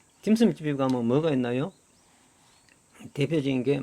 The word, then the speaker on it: 딤섬: 그가 중국의 저 남쪽 광동 지방에서는 딤섬이라고 읽습니다 여러분들 딤섬 좋아하죠 딤섬 딤섬 집에 가면 뭐가 있나요